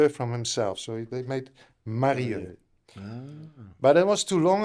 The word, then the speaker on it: Marieux: Marieux. Marieux. Marieux. But your surname I pronounced right.